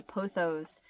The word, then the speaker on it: pothos: The vines of it reminds me of, I have a pothos. I think that's how you pronounce it.